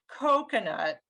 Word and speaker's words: coconut: awareness building thing so like the word coconut coconut the first syllable is stressed and that's the same sound as rose coat does that make sense